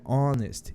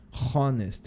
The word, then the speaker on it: honest: man an honest Man começa com um som de vogal apesar de ter o h o importante aqui quem manda é o som tá a gente não tem o som de h apesar de ter o h escrito não tem o som de h né porque é honest e não honest man e por conta desse